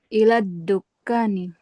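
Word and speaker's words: إلى الدكان: ilal ilal ilal dukkan enggak lamnya enggak terbaca ila duka nih. Hm. Dalnya gimana cara bacanya? Kenapa mi? Enggak itu enggak langsung dilepas dalnya. Ada ada sifat syiddah ditahan dulu. Ila dukkan ilad iladkani. Ilad dukkani.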